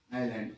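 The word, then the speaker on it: island: आइलैंड S silent हो जाता है इसमें लैंड मत बोलना इसको ठीक है that is आइलैंड आई एस एस तो आता है लेकिन उसको साइलेंट कर देते है आइलैंड पढ़ते क्या पढ़ते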